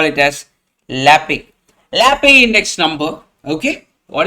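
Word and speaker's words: Laspeyres: I will call it by one name. The first type is called as Lappe index number. You might call it as Laspirus. Yes, I will call it as Lappe.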